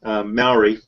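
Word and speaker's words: Māui: am a New Zealander Maui is how you pronounce it yes anyway M that's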